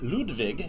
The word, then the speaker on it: Ludwig: to be playing the castles of Mad King ludvig as I learned the pronunciation today from bezier games so one thing